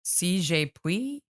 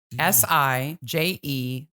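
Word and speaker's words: Si je puis: Sijepuis, Sijepuis.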